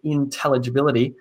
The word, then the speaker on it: intelligibility: example let's look at the word intelligibility intelligibility the emphasis goes on the t sound there that there's another